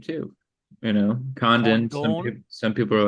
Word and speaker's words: Condon: I mean, people ask me how I pronounce my name, too. You know, condon some people are like condone condone. It's condone.